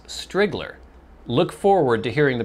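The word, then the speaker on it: Striegler: didn't realize the difficulty the i is lowercase and the e is silent so is he saying strigler it's spelled s-t-r-i-e-g-l-e-r which to me looks like strigler but he says strigler look forward to hearing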